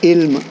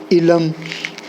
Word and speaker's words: علم: اس کو اگر ہم پڑھیں گے نا علم، آئین کو اگر پہلے رکھ لیں گے ای لم، پھر یہ اس وزن پر چلا، لیکن اس کا تلفظ علم نہیں ہے بلکہ علم ہے.